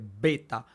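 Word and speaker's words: βῆτα: que diferenciar bien eso cuando hablamos de Beta debemos pronunciarla con la B después tenemos Gamma Ok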